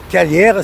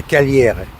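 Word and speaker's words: Cagliari: Alors Calière c'est Kagliari, le G tu sais qu'en italien ça se prononce pas. Et la nana de Vodafone m'a disait que le i à la fin c'est un e. Ça fait caliere. Voilà.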